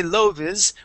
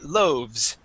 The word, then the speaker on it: loaves: is silent okay um but loes okay we would not say loes we would say loaves please repeat that loaves